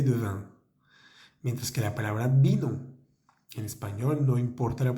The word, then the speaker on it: vin: La V pequeña vamos a pronunciarla con los dientes de arriba contra los labios de abajo. Vin, vin. Se siente una vibración en la garganta.